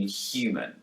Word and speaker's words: human: a hue sound but in new york accents the h is dropped and we're left with you listen to theresa may pronounce the h in human immigration campaigners and human